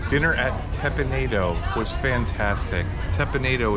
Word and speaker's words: Teppan Edo: at tepinado was fantastic tepinito is the pronunciation that we did ask one of the folks that worked there the proper way to say it because we've heard it